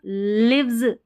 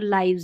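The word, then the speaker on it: lives: एल आई वी ई एस को लिव्स नहीं पढ़ेंगे। यहां पर लाइव्स है।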